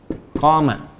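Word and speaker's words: قَامَ: Qama. Ingat, koma. Ya, bukan titik. Dan koma, panjang bacanya.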